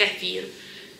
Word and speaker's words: kefir: i had just plain kefir that's a new word from me in english we call it kaffir in czech you know so just the same letters we just pronounce them differently so yeah that's all